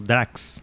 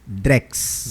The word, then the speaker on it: Drex: realmente é dessa forma, é Drex ou Drax? Drex. Drex. Drex. Então, pronto. Essa é a sonoridade, inclusive, que o Banco Central busca passar quando for fazer a pronúncia, né?